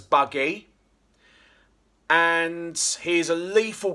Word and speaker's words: Bugg: We should pronounce him as Buggy.